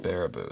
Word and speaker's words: Baraboo: Bear-a-boo. Okay. Bear-a-boo. Bear-a-boo. Thank you, pronounced.